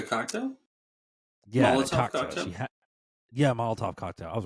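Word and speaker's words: Molotov: She had the mazotov uh not the maztov not maz. What's it called? Um the cocktail. Yeah. She had Yeah, moltov cocktail.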